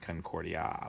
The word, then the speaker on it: Concordia: mmm grow with harmony Concordia with a long a alright here's a third